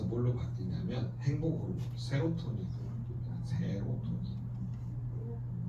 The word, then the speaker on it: 세로토닌: 바뀌냐 행복으로 세로토닌 바뀌 세로토닌 세라토인 아니고 세로토이에요 발음을 세게 하면 새요 세로토닌 자 세로토닌을 멜라토닌을 바꿀